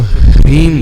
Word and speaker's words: ह्रीं: तो ह्रीम बोलना, रीम रीम नहीं बोलना, रीम रीम नहीं, पहले ह का उच्चारण।